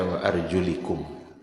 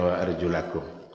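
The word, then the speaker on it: وأرجلكم: Orang-orang Syiah membaca wa arjulikum, jadi bukan dibacanya wa arjulakum, diatafkannya kepada biru'usikum, Karena ru'us itu baris bawah, maka arjul mereka baca baris bawah juga. Sehingga hukum kaki oleh orang Syiah itu sama dengan rambut.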